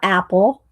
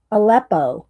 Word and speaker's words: Aleppo: Aleppo. Not Apple. Aleppo.